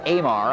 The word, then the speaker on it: Amar: before over the years Amar I think is the way it's pronounced a m a r Kevin Amar huls the